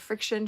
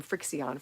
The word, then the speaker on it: FriXion: okay and marty said friction she loves them we i called him frixion for a long time but it's actually friction um but it's spelled in a weird way i unfollowed and followed